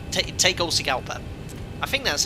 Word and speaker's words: Tegucigalpa: fly that uh approach into uh let me pronounce this correctly thai gold sea gulper take all sigelpa i think that's how you pronounce it according